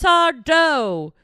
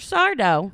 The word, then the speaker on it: Sardo: I go and I bring the pants in, and he's like, "That's Sardo." No, mister. Accent on the dough. Amazing. And then I'd be like, Mr. Sardo.